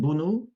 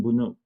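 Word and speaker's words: Bounou: Bono Yasin Bunu I believe is how you pronounce it from Alhal is in goal.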